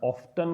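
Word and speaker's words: often: देखिए, जो वर्ड है ना ऑफन, ये अमेरिकन लैंग्वेज में अगर बात करें, मतलब अमेरिका वाले जो लोग हैं इसका उच्चारण ऑफ्टन करते हैं, और ब्रिटिश जो इसका प्रोनाउंसिएशन है वो ऑफन है। दोनों ही उच्चारण सही है। आप इसको ऑफ्टन भी पढ़ सकते हैं और ऑफन भी पढ़ सकते हैं।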